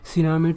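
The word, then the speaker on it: tsunami: फिर टी सुनामी कहां sorry सुनामी टी तो साइलेंट होता है सुनामी कहां पे आएगा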